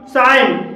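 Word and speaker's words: sign: साइन, साइन में जी के बाद एन है और यहाँ पर भी जी साइलेंट है।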